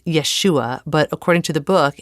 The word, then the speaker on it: Yeshua: In Aramaic, it's Yeshua, but according to the book and Carissa, both are fine. I say Yeshua.